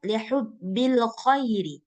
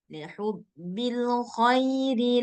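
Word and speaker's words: لحب الخير: Nah, maka bacanya lembut aja, dilunakkan. Nah, nggak perlu ditekan. Nah, contohnya wa innahu lihubbil khairi. Nah, sambil lalu. Lihubbil khairi lasyadid. Nah, nggak mesti baca lihubbil khairi. Nah, nggak gitu dia bacanya. Bukan lihubbil khairi. Nah, nggak boleh ditekan. Dia harus lunak, lembut, dan nggak boleh putus.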